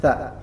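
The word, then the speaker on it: ث: nun mati ketemu dengan tsa dan perhatikan tsa di sini juga harus benar bacanya makhrajnya lidahnya sedikit di tampakkan di antara dua gigi ya gigi atas dan Gigi bawah Mi taa tsa tsa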